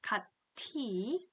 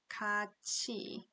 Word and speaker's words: 같이: The pronunciation for this one is not 같이, but it should be 같이.